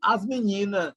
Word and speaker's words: as meninas: In Portuguese, we don't say as meninas, the girls, but as menina. So the final S is not pronounced.